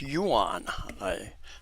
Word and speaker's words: Yuan: Yuan, it's pronounced Yuan, not Evan, it's Yuan.